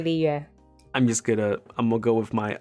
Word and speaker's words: Liyue: Oh, properly pronounced is Liyue. Oh, that's gonna be so hard to say. Yeah, I just say Liyue.